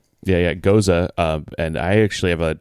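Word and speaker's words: Gose: Another fun one for me is Gosa, which you hear people say goes all the time. Like so-and-so goes to the store is how they pronounce it. Yeah, Goza, and I actually have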